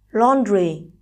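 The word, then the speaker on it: lonely: giờ tiếp số một lon li đây là danh từ có hai âm tiết nên trọng âm giờ ấm trước số 1 Express từ này vừa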